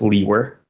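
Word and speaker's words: Liewer: name is and my last name is spelled l-i-e-w-e-r and it's pronounced Lee were and where are you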